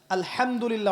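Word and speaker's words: الحمد لله: আলহামদুলিল্লাহ অর্থ মানে কি? এখানে যে হা আছে, এটা কি বড় হা না ছোট? হুত্তি না হাওয়াজ? হায়ে হুত্তি, এটাকে বলে বড় হা। উচ্চারণ কোথা থেকে করতে হয়? মাঝখান থেকে।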